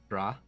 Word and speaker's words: Dran: Dran? Dran. D-R-A-N. Dran. And it is sort of